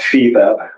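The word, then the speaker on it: FIBEP: all media intelligence Services called Feb that's spelled f i b as in boy e p as in Paul um continent except the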